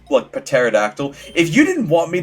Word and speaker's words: pterodactyl: Especially for words like pterodactyl.